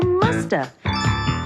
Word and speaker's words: must have: mean must have been we can say massive in conversation and sometimes we don't pronounce the V and so you hear Musta she must have been